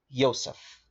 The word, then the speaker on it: Yosef: world using the man they called Yosef so people will call him Joseph but I'm trying to pronounce the name right because the letter J doesn't exist all right it's something